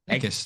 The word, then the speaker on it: Eckes: Eckes, that's right.